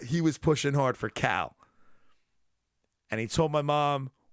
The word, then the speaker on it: Kal: Not like Southern pronunciation of the name Kyle, but Cal. Shut up, Cal. Yeah, not that. Yeah, I know. It was almost K-A-L. Cal.